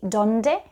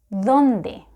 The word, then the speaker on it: donde: so do you say donde so to pronounce it like a native spanish speaker the tip of your tongue needs to touch your upper teeth you know letter d